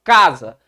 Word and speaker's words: casa: Por exemplo, se eu falo casa, você percebe que esse K é mais forte do que o ZA, não é não?